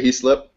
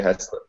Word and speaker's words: Heaslip: Yeah, it's actually up for debate. There's a little bit of a family feud over that. I say Heaslip. Heaslip? People say Heaslip. Yeah, I say Heaslip, but I don't know if it's right or not.